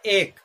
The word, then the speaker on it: ache: एक और पेन दोनों का मतलब होता है दर्द, लेकिन एक जो है इसका प्रोनाउंसिएशन इसी तरह है जैसे हम कहते हैं एक।